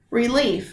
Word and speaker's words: relief: I think you would say relief, right? So what you've identified, knowingly or unknowingly, is that the word relief has 2 syllables in it.